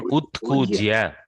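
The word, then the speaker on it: उत्कूज्य: Utkujya. Utkujya. Utkujya. Ut plus kujya.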